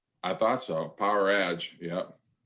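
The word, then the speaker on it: Powerage: that is how you pronounce it. Power Edge. I thought so. Power Edge.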